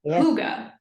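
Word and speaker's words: hygge: actually comes from Denmark it's called puga which is spelled as h y g g e you can tell I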